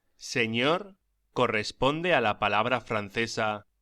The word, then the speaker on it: señor: La ñ se pronuncia como gn en francés o ni en inglés, como por ejemplo onion. Pronúnciese señor y señora.